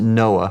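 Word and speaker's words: NOAA: For example, when I was with the National Oceanic and Atmospheric Administration, we've pronounced it Noah.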